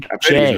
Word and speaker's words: Uche: Uche is how you say it. Uche.